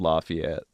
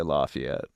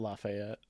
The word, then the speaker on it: Lafayette: in the south called Lafayette. Yeah. And the one in like you're supposed to say Lafayette. Yeah. Not Lafayette. Lafayette.